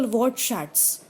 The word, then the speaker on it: Wortschatz: For example, Wortschatz has two syllables.